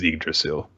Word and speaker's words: Yggdrasil: that was your point according to according to dick the the dictionary the english pronunciation at least is yggdrasil so i'm always gonna call it your drastial no one can stop